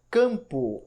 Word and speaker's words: campo: Quando você pronuncia campo, você escuta an, escuta o C, o fonema do C, como se fosse um K, e depois o fonema an. A letra M não aparece.